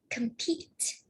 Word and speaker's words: compete: So compete is a verb, and the stress is on the second syllable.